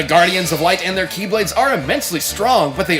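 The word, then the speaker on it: χ-blade: explosion from when the keyblade was destroyed yeah means the x-blade it's just pronounced like keyblade even though it's just one keyblade ah the series is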